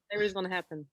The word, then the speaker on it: Iris van Herpen: Yes, Iris van Herpen. Now, Lise is going to kill me for my French pronunciation with Hawkshire.